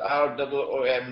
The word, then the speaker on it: Rum: It is pronounced as R-O-O-M, Room, but the Arabic word Room is, it describes Eastern Christianity.